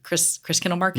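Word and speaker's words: Christkindl Market: necessarily, but like a vendor for Chris Kindle Market.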